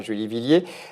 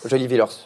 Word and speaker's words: Julie Villers: Vous jouez dans Dommage avec Céline Groussard et Julie Villiers. Et donc, Julie Villers, pardon. La prononciation se fait mal.